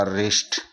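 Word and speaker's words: wrist: आ रहा है तो इसमें भी डब्लू का उच्चारण नहीं होगा आर आई एस टी का उच्चारण ही होगा रिस्ट इस तरीके से यहां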